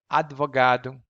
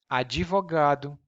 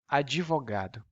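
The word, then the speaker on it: advogado: it's not there but in portuguese we have to include the e an e sound to make it easier for us to pronounce and it's called the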